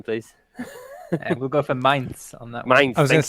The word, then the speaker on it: Mainz: EJ Sung, the main talking point, Peter, German pronunciation, please. We'll go for Mainz on that one.